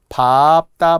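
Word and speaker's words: 밟다: 그러니까 넓다, 짧다, 얇다, 밥다. 밥다만 다르죠. 넓고, 짧고, 얇고, 밟고만 다르죠.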